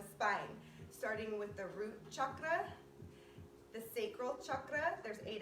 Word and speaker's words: chakra: the root chakra and you say it like chakra that's the real way to say it i learned um so